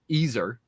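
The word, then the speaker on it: Iser: approaching um what wolfgang easer some uh one of my commenters correct me i've been calling him wolfgang eizer i've been mispronouncing it wolfgang easer talked about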